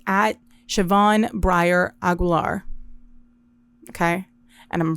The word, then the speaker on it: Siobhan: Siobhan, actually, and let me pull it up on YouTube and not be disrespectful. I'll put it on the screen too, but it's at Siobhan Breyer Aguilar.